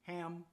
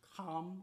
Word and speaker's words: Ham: As you know, Noah had a son named Ham. That's how we pronounce it in the English, but actually in the original language is pronounced Cam or Cam, as in similar to Cam, as in Camet, but Cam had 4 different sons.